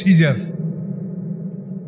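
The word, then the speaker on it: Caesar: তো এই কায়সার শব্দটা দেখেন, আমাদের বিরুদ্ধে যে বিধর্মীরা কত বড় ষড়যন্ত্র করে, কায়সার শব্দটা আপনি বানান করেন CASER, কায়সার, কিন্তু এই বানানটাই ওরা রাখছে, কিন্তু ওরা উচ্চারণ করে সিজার।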